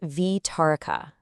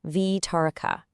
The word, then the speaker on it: Vitarika: And just a quick note on the pronunciation, it's Vitaroka. Let's say it together. Vitaroka.